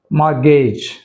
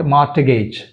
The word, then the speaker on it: mortgage: మార్గేజ్, మార్గేజ్, నాట్ మార్టగేజ్, మార్గేజ్.